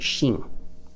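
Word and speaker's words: 新: it by itself uh which is usually pronounced shin and it's using a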